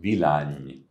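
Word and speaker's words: Villány: of for red wines in Hungary uh called VLAN and that is spelled v-i-l-l-a-n-y pronounced vilani and there you have the robust International grape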